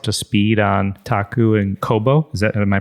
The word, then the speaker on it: Kōbo: bring us up to speed on taku and Kobo is that am I pronouncing yeah okay yeah tell us about taku